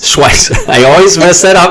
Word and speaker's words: Schweihs: Am I pronouncing that, Chris? No, it's Schweihs. Schweihs.